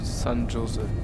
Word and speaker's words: San Jose: Also das J wie bei der englischen Aussprache und nicht Spanisch wie ein H. Also San Jose.